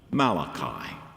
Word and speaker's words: Malachi: Malachi 3:1 says, "My messenger," which in Hebrew is literally pronounced Malachi.